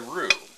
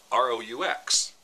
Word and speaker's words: roux: The combination of the flour and the butter is called a roux, and that is spelled R-O-U-X. Doesn't look a thing like roux, but that's the way it's spelled.